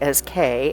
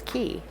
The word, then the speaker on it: cay: I pronounce C A Y as K, as I've heard most cruisers do, but Bahamians pronounce it as key.